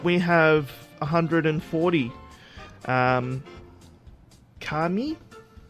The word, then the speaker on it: Kami: have and forty um kami i think it's pronounced kami kami k-a-m-i whatever um ballpoint universe infinite